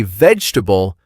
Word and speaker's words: vegetable: Listen as we say vegetable. a few times in a natural way. We do not make every part heavy or strong.